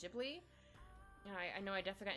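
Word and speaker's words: Ghibli: I never know if it's Giblly or Jibli. I think it's Jibli.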